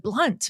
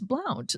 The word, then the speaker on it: Blount: Like, no, the basketball player pronounces it Blunt. And I'm like, right, but I know her and it's Blount.